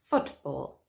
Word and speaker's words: football: at some examples football it's not football but football stress on the first syllable more examples boyfriends girlfriend